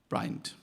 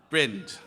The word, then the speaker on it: Brind: he told me that I have pronounced his name wrong for years. So I will now take the opportunity to rectify that to the world. His name is Simon Brind. Brind.